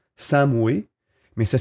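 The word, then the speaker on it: Samhain: britannique à l'origine de la fête ça se prononce sa moue et mais ça s'écrit saint mayme la prononciation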